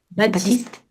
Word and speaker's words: Baptiste: Baptiste. La T Baptiste. ne se prononce pas.